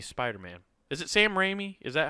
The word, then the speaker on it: Raimi: of this movie oh man okay gotcha Sam Rainey Spider-Man is it Sam Raimi is that how you say it is that